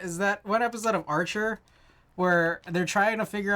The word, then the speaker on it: Arch: Arch like chicken. Not arch like chasm.